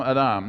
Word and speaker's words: Adam: Speaking of which, Adam, Adam, Adam, Adam, Adam. Now, why do I say it that way? Because that's how you pronounce it in Hebrew. It's not Adam, it's Adam.